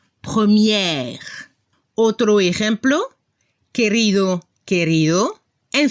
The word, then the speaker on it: première: Al masculino se escucha el sonido E al final, premier, y al femenino hay que abrir la boca para la pronunciación de la última E. Y se debe escuchar la última consona R, première.